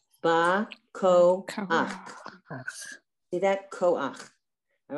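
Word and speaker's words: בַּכֹּחַ: Okay, so it's ba. Koach. See that? Koach. All right. You would never say Bakocha. When you see the het and you see a under it, the vowel is always pronounced first.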